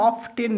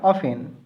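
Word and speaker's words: often: দেখো এটা উচ্চারণটা অফটেন নয়, অফেন।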